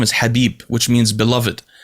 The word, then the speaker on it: Khabib: arabic his name is habib which means beloved it's actually an arabic word so i've always been confused because it had a k in the beginning so i was always